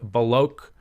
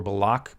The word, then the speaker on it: Baloch: Pakistani officials said the strikes targeted 7 locations used by ethnic Baloch. I believe that's how you say it. That's the ethnic group Baloch or Balak, Baloch.